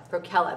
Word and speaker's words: Procella: like, and I don't even know if I pronounced them right, so I don't know. It's the hat and the fingerless mitt set. Procella, that's how it is.